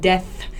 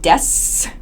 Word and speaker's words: death: is a pronunciation point death so don't pronounce this as desu with an s sound death death i feel